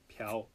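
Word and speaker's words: 朴: name is Park,right -Pu -Piao -It's pronounced as Piao,Piao×4,Piao Shi,Piao Piao It's so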